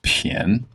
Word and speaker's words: 便: And as far as I know, this is the only word where bien is used where it's pronounced pian.